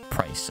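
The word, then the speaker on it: Pryce: So this has to be Bryce, right? Price. Oh, it's Price. Oh, I'm a dumbass. I've been saying his name wrong the whole time.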